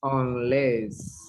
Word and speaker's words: unless: Unless the stress is in less, unless, and this is cost, Cost, yes, cost, cost, and this is unless, unless, less, like the word nevertheless, remember? Nevertheless, unless.